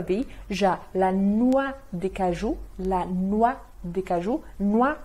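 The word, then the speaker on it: cajou: Não se esqueça que o U sozinho é o famoso bico francês, então para ser o som de U, como no português, tem que ter o O mais U.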